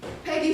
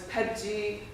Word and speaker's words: Peggy: off she spoke English the p and the g put together is virtually impossible for cantony speaker to pronounce growing up I was pedy biggy piggy so when the when